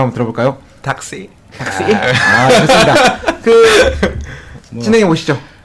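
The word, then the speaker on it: thạc sĩ: 택시. 아, 택시. 택시는 아니고 탁시라고 하는데 네. 저희 원어민 발음으로 한번 들어볼까요? 닥시.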